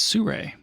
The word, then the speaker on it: Sirui: You going to pronounce the this next brand for us real quick? It's Sirui.